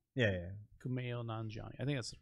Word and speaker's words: Kumail Nanjiani: Camille Nanjiani. Yeah. Kumail Nanjiani.